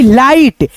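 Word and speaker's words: light: जी एस टी नाइट देखो यहां पे जी एच तो है लेकिन हम केवल टी का उच्चारण कर रहे हैं दोस्तों केवल टी का जी एच जो है ना यहां पे सभी में दोस्तों साइलेंट रह रहा है दोस्तों यहां पे हम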